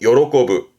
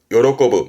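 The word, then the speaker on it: 喜ぶ: 발음은 요로꼬부 요로꼬부 말 그대로 기뻐하다 요로 거부 요걸 명사로 만들어 요로비 하면 기쁨 요로비 그러면서 요렇게 합니다.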